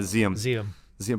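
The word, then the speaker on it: Diệm: South Vietnamese government president DM I don't know if you might know how to pronounce that better than me is it some people say xiamen ZM yeah ZM President xiom Kennedy had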